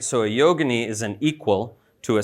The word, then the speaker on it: yogini: And these Siddhas often had consorts, partners, who were always called yoginis. So there's some confusion on this point, because in modern parlance, people use the term yogini, usually mispronounced as yogini.